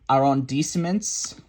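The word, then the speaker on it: arrondissements: a French major but I believe the turn is are on decements a-r-r-o-n-d-i-s-s-e-m-e-n-t-s is how that's spelled Michael thank you oh wait a minute play it's on 400.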